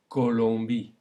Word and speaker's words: Colombie: So, to recap, the O alone is normally pronounced O, but when followed by an I, we get a wa sound.